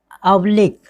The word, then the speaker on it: oblique: Next word क्या है, ऑब्लिक।